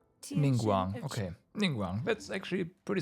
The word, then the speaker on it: Ningguang: How the heck do you pronounce her name? Because I don't know how either. I am Ningguang. Ningguang, okay.